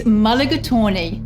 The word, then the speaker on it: mulligatawny: of Indian descent it's quite a mouthful the pronunciation that is its mulligatawny and if you haven't